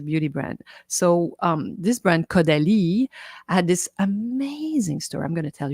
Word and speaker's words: Caudalie: So this brand Caudalie had this amazing story. I'm going to tell you a little bit because I'm sure you're curious. So you can go on the website. It's spelled C-A-U, Caudalie.